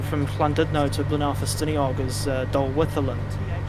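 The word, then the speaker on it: Dolwyddelan: there's one of the stations on the line from Llandudno to Blaenau-Ffestiniog is Dolwytherland. But the TH sound is spelled with double D's.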